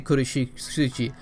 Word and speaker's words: Kurotsuchi: that name right cuz you guys told me it's good of su Chi so I'm gonna say kurotsuchi so let me explain